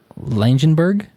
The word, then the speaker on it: Langenburg: it still exists yeah I think it's pronounced langenberg I talked to someone from there and that's how they pronounced it weird okay cool cuz